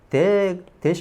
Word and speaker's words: debt: 대시 뭔지 알죠? 대비 아닙니다. 대시입니다. 비가 발음이 안 나는 거예요. 대시 빚 이런 뜻이죠.